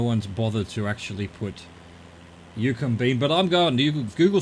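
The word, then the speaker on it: Eucumbene: Yukombine.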